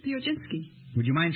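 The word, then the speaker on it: Piechocinski: with you uh Charlotte uh how do you pronounce your name Theo jinsky would you mind spelling it p i e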